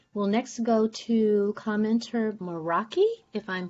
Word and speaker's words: Meraki: We'll next go to commenter Meraki. If I'm pronouncing that correctly, you have 3 minutes. Hello, can you hear me? Yes. Okay, hi, yes, that is my name, Meraki.